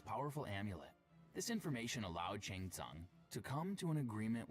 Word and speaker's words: Shang Tsung: And if that wasn't enough, the outworld sorcerer Shing Tong added insult to injury by Shang Tang. It's Shang. Shang Tsung. It even says it in the game. There's no way you you mispronounced that.